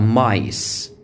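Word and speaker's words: mice: القاعده بتاعتها القاعده بتاعتها ان حرف الاي لما بيجي في الاخر طبعا ما بيتنطق ولكن بيخلي الحرف المتحرك اللي موجود يتنطق باسمه يعني حرف الاي الصوت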